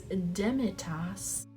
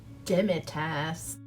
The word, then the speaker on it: demitasse: month of September and the word of the month is demitas let me double check make sure I'm pronouncing that right all right so apparently it's dimitas that's not as fun whatever moving on so